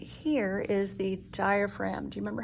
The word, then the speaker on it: diaphragm: right here is the diaphragm do you remember how to spell diaphragm that's right d-i-a-p-h-r-a-g-m and with the g being the sneaky silent letter on this muscle uh